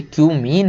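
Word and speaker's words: cumene: Give the equations of the reactions for the preparation of phenol from क्यूमीन। क्यूमीन से हमें आपको equation बताना केवल कि क्यूमीन से, इसको कुछ और मत पढ़ लेना भाई, ये क्यूमीन है।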